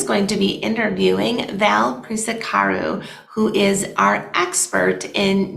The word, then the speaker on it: Prisecaru: It's pronounced Prisecaru. It's spelled like the word price with an S, Prise, and then car, Car, and then the letter U.